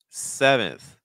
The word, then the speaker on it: seventh: This is, again, a situation where sometimes I see students pronouncing more of a schwa sound on the second syllable, more like unth, unth. I would personally recommend more of a short I sound, so more nth, nth. So nth, seventh. Regardless, the first syllable is still your stress, so you need to make sure that S sound is strong enough.